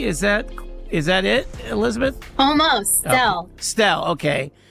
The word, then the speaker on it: Stelle: Stelle. Stelle, okay. Don't have to have the second syllable there.